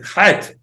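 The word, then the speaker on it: חית: Okay, you just like need to imagine for yourself that you smoke a pack of cigarette last night and you have like this cloth thing in your throat and you need to take it out, so you're doing Chet.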